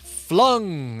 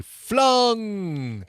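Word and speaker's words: Fluung: rock band uh called flung and I say it like that because there's two U's f-l-u-u-n-g flung wow uh thanks to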